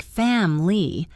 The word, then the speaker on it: family: Once you accept this, words like chocolate, which sounds like choc-lut, or family, which sounds like fam-ly, will start making much more sense to your ears.